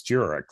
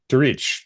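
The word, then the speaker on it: Djuric: Um, I wanted to do a heyu to our uh sometimes election uh co-podcaster uh Mickey and it's it's Jurich, right? That's correct pronunciation. to reach, right?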